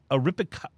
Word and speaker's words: Arapiraca: Let me try to pronounce this right. It's the Arapiraca.